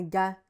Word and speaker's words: gars: Donc si par exemple je dis un gars G A R S, elle ne sait pas forcément qu'on ne dit pas le R ni le s.